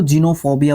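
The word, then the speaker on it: xenophobia: लगता है तो उसको जीनोफोबिया बोलते हैं, फोबिया मीन्स डर है आपका, ठीक है। जीनो, इसको जीनो प्रोनाउंस किया जाता है, ठीक है, चाइना में एक्स को जी बोलते हैं, तो जीनोफोबिया हम लोग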